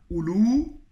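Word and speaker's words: أولو: Et donc Oulou, il s'écrit Oulou. Donc il y a bien un waw qui s'écrit mais ne se prononce pas.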